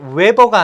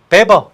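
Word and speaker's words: Weber: 이게 독일어기 때문에 이게 웨버가 아니고요. 비읍 발음이 납니다. 그래서 베버 이렇게 읽는 거예요.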